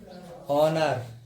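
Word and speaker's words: honour: एच के बाद अगर स्वर है, कोई भी वर्ड अगर एच से शुरू हो रहा है उसके बाद क्या होगा, स्वर होगा, तो फिर एच क्या रहेगा तुम्हारा, साइलेंट रहेगा। ठीक है, एग्जांपल देखिए, आवर, ईयर, है ना, ऑनर, ऑनेस्ट। ठीक है, तो इनमें सब में कहा रही एच तुम्हारी साइलेंट रही है।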